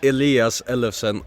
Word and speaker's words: Elias Ellefsen: Elias Ellefsen, Skipagøtu.